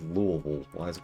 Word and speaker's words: Louisville: Yeah, for those it is Louisville. I I hate the pronunciation. It's called Louisville.